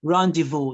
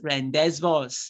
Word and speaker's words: rendezvous: pronounced so for example this first word is pronounced Rendezvous not Rendezvous you can see the number of letters English decided to waste Rendezvous is the spelling but we actually pronounce rendezvous the next word is